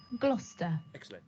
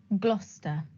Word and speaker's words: Gloucester: gloucester any other let's take a look it's pronounced gloucester gloucester number two how do you pronounce this oxfordshire